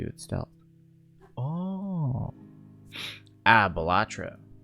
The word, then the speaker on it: Balatro: stealth oh ah batra is it batra or balatro because I've heard people pronounce it both and I've heard those people also be like it's actually pronounced this way it's actually pronounced batro and people go it's actually pronounced batra batra that's how I want to pronounce it too but I also want